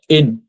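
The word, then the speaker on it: 円: জাপানি যে মুদ্রা ওগুলাকে আমরা তো ইংরেজিতে ইয়েন বলি ইয়েন কিন্তু জাপানিরা মূলত ইয়েন বলে না জাপানিরা এন এন মানে হচ্ছে মূলত ইন আর কি হ্যা এনটাকে ওরা এন বলছে তো এন মানে এখানে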